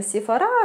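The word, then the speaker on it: Sephora: в одном адвенти от сифора Я знаю что правильно говорить наверное сефара все-таки на французские манер но мне удобнее сефора как-то привычный так вот мне всё-таки больше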